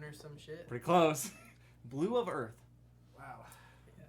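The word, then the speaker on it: Blu of Earth: Blue of Earth. Wow. Yeah, it's Spelled BLU. It's definitely That's for his retarded. girlfriend. Blue of Earth.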